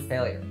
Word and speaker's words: failure: mistakes equal failure so the first sound is Faye similar to the word Fey the sound is created by combining the letter F with a long a sound as in eight or